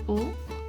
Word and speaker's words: on: But just as a precision again, normally we wouldn't pronounce the N at the end of on.